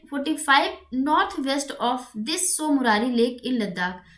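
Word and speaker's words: Tso Moriri: चलिए आगे बढ़ते हैं दूसरे लेक के बारे में, सोमरारी लेक। देखिए सोमरारी में जो स्पेलिंग होती है यहाँ पे टी साइलेंट होता है, TSOMORI लेक। ठीक है, तो इट इज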